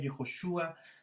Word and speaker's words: Yehoshua: Su nombre hebreo Josué, Yehoshua, su nombre hebreo de Jesús, Yeshua.